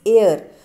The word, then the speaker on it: heir: हेयर, this is HEIR, हेयर, इट इज़ एयर. So it is H is silent here and the correct pronunciation is air.